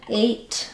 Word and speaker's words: ate: So the difference between, for example, hate and ate or have and have. I would really work on being able to use a nice light American H English sound in words and then being able to start words with vowels without any windy air without any H sound.